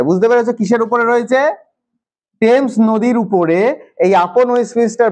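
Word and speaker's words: Thames: কি নদী টেমস নদীটার নাম কি টেমস উচ্চারণটা এরকম হবে টেমস এই টেমস নদীর উপরে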